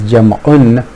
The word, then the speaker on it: jam'un: In jam'a we will see, which is full pronunciation is jam'un, we will see that we have jam'a salim and jam'a mukassar.